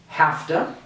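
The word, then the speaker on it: have to: let's just practice one more time gimme lemmy hafta hasta usta okay so if you practice this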